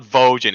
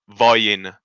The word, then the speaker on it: Vojin: It's not Vojin, it's Voyin.